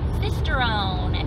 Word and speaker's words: Sisteron: Sisteron, if you don't say it in a French accent.